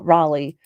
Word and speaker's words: Raleigh: British baby born in the new world oh Raleigh thank you I knew I knew I mispronounced it you know when you have that